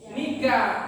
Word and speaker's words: NICA: Kemudian ternyata sekutu masuk ke Indonesia itu membonceng Nika atau Nica bacanya.